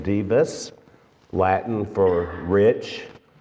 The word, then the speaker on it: Dives: given him the name Divas Latin for Rich when you see it spelled out it looks like Dives it's pronounced Divas uh the two men